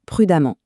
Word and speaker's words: prudemment: comme prudent qui donne prudemment. Et là, petite astuce ou plutôt petit piège, attention, la prononciation est la même. On dit amant dans les deux cas.